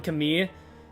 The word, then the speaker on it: Camille: Because that is the correct French pronunciation, and I've been around too many French people to say it incorrectly anymore. 내가 우연히 들은 이야기가 맞다면 Because the double L sound in French is a E sound.